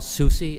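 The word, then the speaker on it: Soucy: Come on up and please uh turn on the mic and state your name and spell it for us, please. Uh, my name is Susi.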